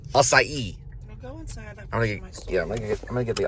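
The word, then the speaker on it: açaí: and I got the all side so it's pronounced acai it's a fresh strawberry kind of drink refresher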